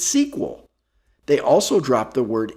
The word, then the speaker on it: SQL: of the language said we can simply remove the vowels and still pronounce its sequel they also dropped the